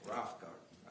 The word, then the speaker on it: Rothengarten: Pronounce it for me. Rough Garden. Rothengarten, okay, thank you.